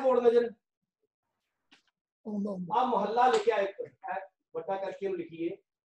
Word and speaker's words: महला: जी सब नु आ रहा है बोर्ड नजर मोहल्ला लिखा एक वड्डा करके लिखिए इस तरह का उच्चारण है मोहल्ला।